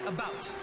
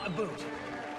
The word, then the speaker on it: about: Not American, and I pronounce it about, not a boot.